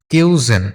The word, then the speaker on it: cuisine: তো কিউজিন, কিউজিন ঠিক আছে? এটার উচ্চারণ হবে কি? কিউজিন, কিউজিন খাদ্য সংস্কৃতি।